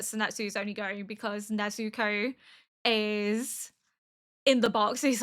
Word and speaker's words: Nezuko: Nezuko, I think is how Tanjiro is saying it. To me, it sounds right, but evidently people are correcting me that it's not right.